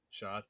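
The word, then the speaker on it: Schade: Um Kevin Shade. That's how you pronounce his name. Shade. Right. Shad. Shod. Okay. Shod.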